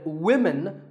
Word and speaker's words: women: But remember that we say woman for one woman and women for the plural. Women.